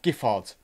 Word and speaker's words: Giffard: Trevor, oh, we're going back to the Giffard. Hard G. Right, so I'm a big fan of Giffard. I say Giffard. If that's what you're calling a hard G, that is what I'm going with.